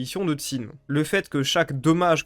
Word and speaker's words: Qin: Parce que après tout le fameux Tin que ben très souvent à Thort en France on prononce kin, bah ça se prononce comme je le prononce depuis le début, ça ressemble plus à Tin.